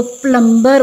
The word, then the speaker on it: plumber: When B is not there, we have not to pronounce it. Now, it would be a very common error, you can say. आप में से बहुत से लोग इसको plumber बोलते होंगे, it is not plumber.